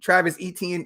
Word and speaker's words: Travis Etienne: Yeah, Travis Etienne. Yeah, I forgot how to say his name. Travis Etienne.